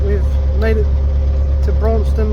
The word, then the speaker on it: Braunston: we've made it to bronston now finally saying it right um we keep saying Bron just about to come